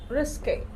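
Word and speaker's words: risqué: रिस्के, और यहाँ पर ये है, इसको जब ई पे ये वाला साइन लगा हो तो इसको हम लोग स्वा बोलते हैं, जिसका जो प्रोनाउंसिएशन है दैट इज ए होता है, रिस्के।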